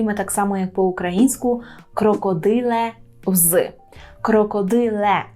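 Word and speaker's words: krokodyl: нас крокодил крокодил дзвонить увагу наголос і на вимову м'якого л це не крокодил український так а крокодил крокодил польський до слова крокодил треба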